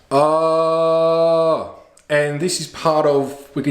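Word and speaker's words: ཨ: It's pronounced ah, and this is part of, we could say, some of the techniques of doing that and visualizing this symbol.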